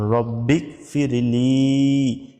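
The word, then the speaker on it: رَبِّ اغْفِرْ لِي: রব্বিকফিরলি এক আলিফ টান আছে দেখুন রব্বিকফিরলি রব্বিকফিরলি মানে সংক্ষিপ্ত মানে আপনি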